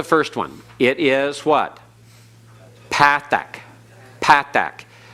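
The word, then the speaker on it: פתח: is what Pathak Pathak don't don't switch into modern Hebrew pronunciation of Patak okay Patak is what you'll hear on the internet Patak is what you'll hear some who use modern Hebrew pronunciation for teaching Biblical Hebrew but that causes confusion if you keep the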